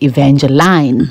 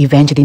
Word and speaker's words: Evangeline: about the name Evangeline because it was not pronounced correctly people would say Evangeline and when you grew to know what that it's actually Evangeline and how melodic and how beautiful it sounds